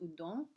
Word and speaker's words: Houdon: When we look at Jean-Antoine's Houdon, Houdon, pronounced Houdon, representation of George Washington, then a general, later